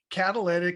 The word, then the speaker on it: Catalyit: i'm mispronouncing it now actually it is catalytic it came from catalyst for change and i t for technology and i don't know